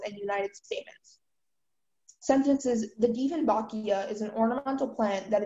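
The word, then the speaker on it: Dieffenbachia: Diefenbachia. Am I pronouncing it correctly? Yes. Diefenbachia.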